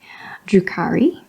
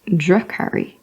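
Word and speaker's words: Drukhari: Drukari. Oh, it's not Drukari, it's Drakari, as in drum.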